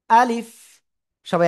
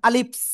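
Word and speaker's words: ألف: আলিফ আলিফ আলিফ দেখছেন আলিফ আলিফ সবাই একসাথে 10 বার বলেন তো আলিফ আলিফ হ্যা অনেকেই কিন্তু উচ্চারণ এরকম করতেছেন আলিফস আলিফস এরকম হবে না কেমন হবে আলিফ আলিফ ঠিক আছে ওকে আব্দুল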